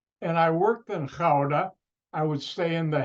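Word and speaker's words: Gouda: the Dutch city which you spell g-o-u-d-a Americans pronounced aguda you know where the cheese comes from nope it's clouda and I worked in howda I would stay in The Hague which Dutch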